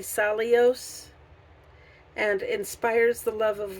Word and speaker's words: Sallos: And then Sallos is, one moment, it's actually Sallios, and inspires the love of women and men.